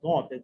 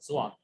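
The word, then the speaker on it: ضاد: হ্যাঁ জি, একটা বলছেন, অনেক সময় অনেকে আছে আরবিতে অক্ষর যেটা দদ, দদকে আবার অনেক সময় বলে জোয়াদ।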